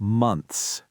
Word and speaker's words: months: Words like months, m o n t hs. You've got an n, a th h, and an s. Months.